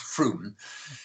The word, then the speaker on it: Frome: with us is that this little town of froome it's it's written from f-r-o-m-e but it's pronounced froome in somerset is put in a place a